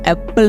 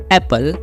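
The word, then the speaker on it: apple: है इस वर्ड को, एप्पल नहीं, एप्पल। सिर्फ एक P की साउंड आएगी, डबल P होता है एप्पल में, लेकिन सिर्फ एक P की साउंड आती है, दूसरा P हमारा साइलेंट रहता है, तो हो जाता है हमारा एप्पल नहीं एप्पल।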